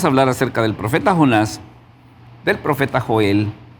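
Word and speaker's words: יוֹנָה: hablando un poquito acerca del profeta Jonás, eh este este Jonás es un personaje no solamente muy conocido, sino que también es un personaje muy interesante. ¿Cómo se pronuncia el nombre de Jonás en el hebreo?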